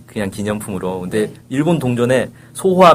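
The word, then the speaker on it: 昭和: 쓴단 말이에요 그게 이제네 그 소화라고 이제 하셨는데 일본말로 이제 소아라 발음이 되는 거고 1989년까지 그걸 썼어요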